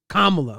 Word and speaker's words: Kamala: Kamla was that's how it's pronounced.